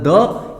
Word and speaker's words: the: Article एक होता है आर्टिकल द या फिर दी, दोनों इसका उच्चारण होता है बच्चे, द भी होता है और दी भी होता है।